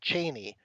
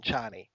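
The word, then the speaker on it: Chani: just to mispronounce them i was beside myself with anger when paul was in love with cheney rather than johnny and you know and especially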